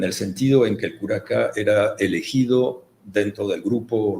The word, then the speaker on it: curaca: Curaca Sí. en quechua. ¿Cómo se pronuncia? Curaca.